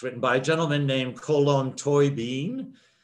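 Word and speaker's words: Colm Tóibín: to me it's written by a gentleman named colon toy bean column toy bean is one of gosh very popular authors for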